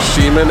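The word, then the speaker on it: Ximen: in right now is the semen area which is spelled x-i-m-e-n and um it's a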